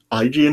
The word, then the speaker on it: Aegean: I think Aegean Sea, is that how it's said? Aegean. Aegean, is that how it's said? Yeah.